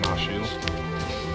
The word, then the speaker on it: Mash: servant's name says Mosh, but the name is pronounced, it's actually Mashu.